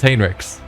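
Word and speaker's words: Heinrix: See, feels like it should be Hinrix, but apparently it's Hinrich.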